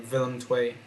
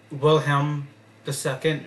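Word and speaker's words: Willem II: Gran uh vill TW not willhelm II but villm TW is the proper pronunciation then you have uh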